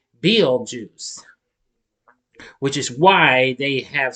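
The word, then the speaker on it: Betelgeuse: first they are unaware his name is pronounced Bill juice which is why they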